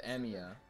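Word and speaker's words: Emiya: is that is that okay that's how you pronounce it emia and now he's older seen this girl in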